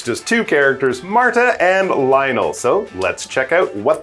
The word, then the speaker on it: Lionel: But for him, if you meet him, don't say, "Hey, Lionel Messi, I'm a big fan." Don't say that. It should be pronounced Lionel.